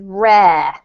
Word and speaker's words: rare: giuseppe one tiny word this one is rare rare yeah it rhymes with hair the hair on your head so just remember that